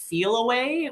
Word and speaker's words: Feliway: And then if there is a recent move and like a downsize, I'm a believer in the product Feel Away, which is spelled FELIWAY.